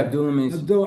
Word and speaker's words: Abdullah Mason: Yeah, Abdullah Mason.